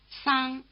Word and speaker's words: 桑: The last name in the third column of Display 1 starts with an honest S. You may notice that Chinese S is slightly stronger than English S. Listen. 桑桑桑 Try repeating it.